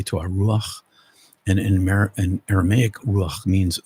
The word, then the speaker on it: ruach: I've been pronouncing that ruha, but that's been an incorrect pronunciation. Even though it's spelled R-U-H-A, it's ruach.